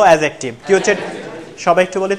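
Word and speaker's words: adjective: বলি এডজেক্টিভ কি বলি বলি তো ডিটাও অনুচ্চারিত থাকবে বলবো এডজেক্টিভ সবাই একটু বলি তো এডজেক্টিভ এডজেক্টিভ আবারো এডজেক্টিভ বলি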